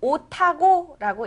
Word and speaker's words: 옷하고: 옷하고라고 쓰지만 읽을 때는 옷하고라고 읽어야 됩니다.